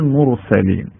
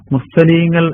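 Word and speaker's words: مرسلين: ഇന്നലിനൽ മുർസലീൻ എന്ന് പറയുമ്പോൾ മലയാളത്തിൽ നമ്മൾ സൂക്ഷ്മമായി ശ്രദ്ധിച്ചു കഴിഞ്ഞാൽ മുർസലീങ്ങൾ എന്നാണ് നമ്മൾ പറയുക അല്ലേ മുർസലീങ്ങൾ അങ്ങനെ പറയുമ്പോൾ റാഇന്റെ ഉച്ചാരണം അറബി ഖുർആനിൽ പറയേണ്ട രൂപത്തിൽ നിന്ന് മാറി പോകുന്നുണ്ട് എന്താണ് വ്യത്യാസം റാഇന് നിലക്ക് ശബ്ദം നടക്കേണ്ടതാണ് എന്ന് വേണമെങ്കിൽ പറയാം അപ്പൊ മുസ്തലി എന്ന് പറയുമ്പോൾ റാഇന്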